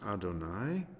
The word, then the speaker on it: Adonai: have hey or uh which we pronounce as adonai which also has four